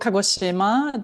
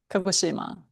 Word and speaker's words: Kagoshima: It's called Kagoshima. The Yeah, Kagoshima. And it's like Hiroshima.